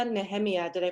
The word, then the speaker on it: Nehemia: I'm so so grateful to experience Gila and Nehemia did I pronounce that right she did yes and to